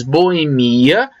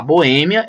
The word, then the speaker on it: boemia: aqui Aqui nós temos Boemia que também eu posso falar Bohemia é uma dupla prosódia e Aqui nós temos